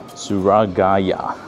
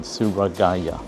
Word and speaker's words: Tsurugaya: So I'm gonna go to this store, Tsurugaya. Apparently that's how you say it. You gotta go slowly with the word Tsurugaya.